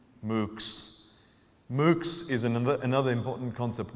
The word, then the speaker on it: MOOCs: an acronym here, and if you pronounced it, you would hear cows. MOOCs.